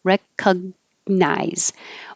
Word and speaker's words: recognize: Recognize. Or skip the G completely and just say recca. Recognize. That's faster, easier. It's not stressed, so it's fine.